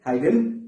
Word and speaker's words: Huygens: उस थ्योरी का नाम था हाइजीन। इसको हाइजीन बोलते हो, या तो यूजीन बोलते हो, या तो हाइगन प्रिंसिपल भी बोलते हैं। प्रोनाउंसिएशन अलग अलग हो सकता है, बट एक्चुअल प्रोनाउंसिएशन है हाइगन प्रिंसिपल।